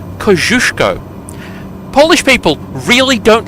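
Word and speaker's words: Kościuszko: named for taros kushko yes that is the Polish pronunciation kushko Polish people really don't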